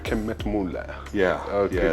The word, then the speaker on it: Kemmetmueller: Is it the correct pronunciation? Kemmetmueller. Kemmetmueller.